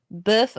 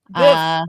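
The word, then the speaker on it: bœuf: Boeuf bourguignon. Boeuf. That's right. The boeuf, like the Shia LaBeouf.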